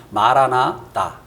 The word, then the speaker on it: 마라나타: 근데 이제 정확한 발음을 하면 마라나다. 이제 뒤에 있는 다가 이제 그 주님을 의미하거든요. 그래서 정확히 하면 마라나타가 아니라 마라나다.